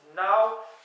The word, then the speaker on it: nav: j'avais dit dans les chiffres nav alors qu'on prononce now pour ne na a W en prononciation mais